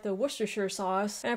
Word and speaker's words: Worcestershire: I got to Worcestershire and I kept saying war chestershire and then I was like hmm you know what this kind of looks like the Worcestershire sauce and I pronounced it just you know